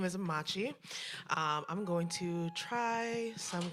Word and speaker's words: Machi: That is spelled two M's, A C H I. Not macho, not matcha, or mochi, or macho man.